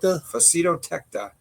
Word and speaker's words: Facetotecta: One especially mysterious group known as Y-larvae, or how do you pronounce that? Facetotecta.